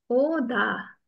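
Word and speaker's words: 오다: oh, dah. Jangan salah ya, jangan ta, jangan ada th-nya, pakai d. Oh, dah. Oh, dah.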